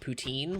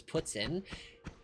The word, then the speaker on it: poutine: Also, it could be grossly pronounced poutine, which is a horrible way to pronounce it. It is Poutine.